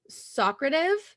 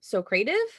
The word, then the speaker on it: Socrative: to talk about is Socrative it might be so cretive but I'm going to pronounce it as Socrative um this was cool